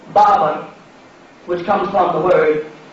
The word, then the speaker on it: Berber: The Berbers, which is a mispronunciation of Barber, which comes from the word barbarian, conquered and brought in Islam to Morocco.